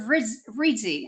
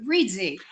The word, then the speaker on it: Reedsy: co-founder more importantly than that the co-founder of ritzy I almost said ritzy I don't know why but Reesie so welcome Ricardo Thank You Frances and and